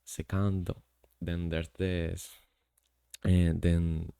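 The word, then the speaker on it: セカンド: Then there's the second base, which is pronounced as secando.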